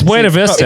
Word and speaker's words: Buena Vista: No, it's Buena Vista. It's Buena Vista.